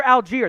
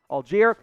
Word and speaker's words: Allgeier: Another running back here, Tyler Allgeier. That is how it's pronounced, by the way. It doesn't look like it. That is how it's pronounced. Allgeier out of BYU.